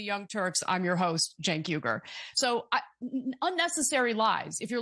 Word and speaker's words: Cenk Uygur: watching The Young Turks, he would know how to pronounce Cenk Uygur's name. It's not sh- a Shank Weger or whatever it is that he said.